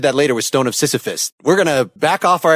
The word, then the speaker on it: Sisyphus: heard the stone of Sisyphus and I think you know it's a really tough name it sounds like kind of rhymes with syphilis you know I've heard